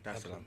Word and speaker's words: Dar es Salaam: of the 7th, to come straight to Tanzania, Dar es Salaam. Did I pronounce that right? Yeah. Dar es Salaam.